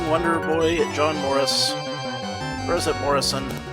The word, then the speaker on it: Morris: at John Morris rosette Morrison I think it's Morris it's pronounced Maurice anyway I got myself this